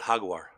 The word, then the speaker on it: Jaguar: waiting for that god how do you pronounce it jaguar no no no no no you're right you're right oh come on leo we know you pronounce it hagwar ah that's true that's also true so i ended up